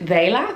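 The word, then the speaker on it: Vehla: i discovered on instagram i think you pronounce it vela v-e-h-l-a they have instagram ads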